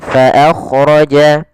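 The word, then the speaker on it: فأخرج: dengan bibir bawah Ma faakhroja kemudian Fa Jangan dibaca dengan Pa Jan Ma akhraja jangan tapi dia maan faakhroja kemudian faakhroja bihi Kemudian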